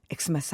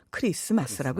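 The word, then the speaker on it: Xmas: 그래서 엑스마스 이렇게 쓰기도 하지만 이제 종교를 믿는 분들은 엑스마스 하지 마라. 엑스마스라고 써도 크리스마스라고 읽어라.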